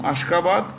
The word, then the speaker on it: Ashgabat: ASHGABAT. ASHGABAT. Ashgabat. The T is pronounced with a D.